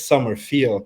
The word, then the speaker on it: Sommerfeld: So first off, am I pronouncing it correctly? Sommerfeld, right? Even better is Sommerfeld. That's how the US guys call me.